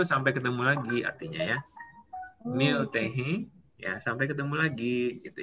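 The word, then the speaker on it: मिलते हैं: Ini dibaca Miltehe. Miltehe itu sampai ketemu lagi artinya ya. Miltehe ya sampai ketemu lagi gitu ya.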